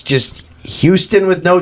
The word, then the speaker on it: Houston: He said Houghton. It's Houghton. It's Houston. I didn't say to change how you pronounced it. It's Houston with no T, Houston. is what I said.